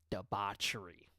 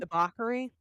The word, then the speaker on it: debauchery: Debbachery. Debauchery. Is that how you say it? Debauchery. Debbie. Debba. Deba. Deba. I don't think you say ch.